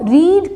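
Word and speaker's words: read: तो रीड का जो है थर्ड फॉर्म रीड ही होता है और इसको हम प्रोनाउंस करते हैं रेड।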